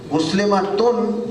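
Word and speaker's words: مسلمة: Muslimatun is the complete word, but if we stop here, we drop the sound at the end. Rule in Arabic, if I continue reading, then Muslimah, if I continue reading Muslimatun, if I stop, it's Muslimah.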